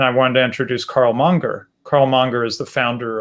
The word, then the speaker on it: Menger: people pronounce his name menger i'm m-e-n-g-e-r but i'm told that a better pronunciation of the austrian name is monger carl monger um and